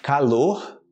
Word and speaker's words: calor: tá fazendo muito calor calor com circunflexo como se fosse com circunflexo no o mas somente para falar